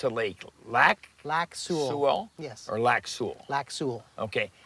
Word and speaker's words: Lac Seul: Now, how do you pronounce a lake? Lac Laku. Su.